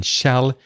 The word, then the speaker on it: shall: The vowel sound, the a in shall, is the same as in words like cat, hat, sat, that, and, etc. It's the a sound. So shall.